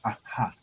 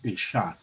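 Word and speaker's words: אחד: Y el término hebreo para uno es Ahad, o otros lo pronuncian Eshad.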